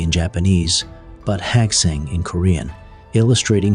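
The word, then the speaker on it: 학생: For example, the word for student, written as shusheng in Chinese, is pronounced gakusei in Japanese, but hagseng in Korean, illustrating how shared influences have diverged over time.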